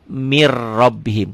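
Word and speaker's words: مِن رَّبِّهِمْ: Min rabbihim dibacanya mir rabbihim. Ketentuannya setiap huruf mati ketemu huruf bertasdid. Ini ada tasdidnya ya kalau dalam Quran. Setiap huruf mati ketemu huruf bertasdid, huruf matinya jangan dibaca. Jadi dari sini mir rabbihim.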